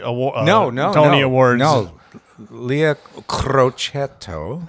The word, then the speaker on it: Crocetto: would be way worse cretto I'm too American to pronounce it's two T's cret okay CR there you go